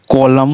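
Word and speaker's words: column: फिर कॉलम, कॉलम में भी देखिए एन को नहीं पढ़ा जा रहा है।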